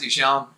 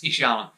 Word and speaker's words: Ihsahn: Just for a quick caveat at the start, it is pronounced Ihsahn.